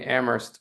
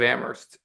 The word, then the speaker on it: Amherst: And we we like to have this this joke in that in Ammerst only the H is silent um for us for us locals.